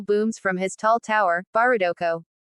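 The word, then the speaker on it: バーダック: The eldest angel booms from his tall tower, Barudoko. Japanese pronunciation of Bardock's name.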